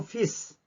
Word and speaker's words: fiz: Eu fiz. 이거는 문장 맨 뒤에 올 때 무조건 그 단어의 맨 뒤에 올 때는 스 발음이 납니다. 그래서 fiz 이렇게 발음.